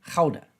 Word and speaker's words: Gouda: corrected by a Dutchman, Gouda cheese. Gouda cheese. Gouda, which is very good shit. Gouda, you got to say it with some phlegm.